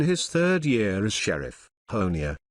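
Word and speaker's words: Honea: In his third year as sheriff, Honia rhymes with Tony has become something of a rock star at the media briefings with a firm but friendly demeanor.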